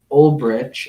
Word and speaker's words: Ulbricht: it looks like the legal team representing Ross Ulbricht, I believe is how you pronounce it, they're basically pitching to Trump that he should grant clemency.